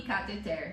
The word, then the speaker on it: cateter: Então é rubrica, Rubrica não rúbrica, e cateter.